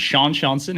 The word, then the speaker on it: Sean Seanson: at on YouTube uh my name is Shan shanson it's spelled the Irish way uh so s a